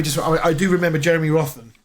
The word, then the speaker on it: Rothen: I do remember Jeremy Rothen. Roten. I think it was how you pronounce it.